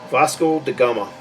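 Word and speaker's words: Vasco da Gama: never knew existed you know yes that's that's pronounced it again to fosco da Gama Vasco de Gama it's hard to even read it here it's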